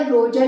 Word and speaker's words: Roger: देखिए ये जो रोजर है ना, ROGER, इसे बोला जाएगा रोजर ही, बट बार बार मेरे मुंह से जो है रोगर रोगर निकल रहा है, ठीक है। तो जब भी मैं इसको रोगर प्रोनाउंस करूँ तो आप समझ जाइएगा कि मैं रोजर ही बोलना चाह रही हूँ, ओके।